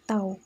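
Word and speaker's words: τ: it kayak semacam huruf Yunani gitu ya jadi bacanya itu tahu itu kalau dirumuskan adalah gaya di kali jarak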